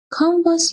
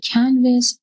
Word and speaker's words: Canvas: کانواس یا در اصل کنوس یک سیستم مدیریت یادگیری منبع باز هستش که در سراسر دنیا مورد استفاده قرار میگیره. تلفظ کنوس درست هست، ولی تو زبان فارسی به صورت کانواس مصطلح هست و در طول همین